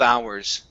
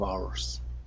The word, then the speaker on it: hours: So instead of hours, the H is silent. Couple of hours. Couple of hours.